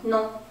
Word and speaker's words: non: Non. So it's sort of like no, but you make it French sounds. So you say non.